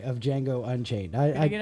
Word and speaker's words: Django: I know the D is silent. Django.